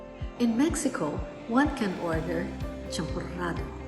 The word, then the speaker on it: champurrado: In Mexico, one can order champurrado. They spell it with a double R, and they have that Spanish trill.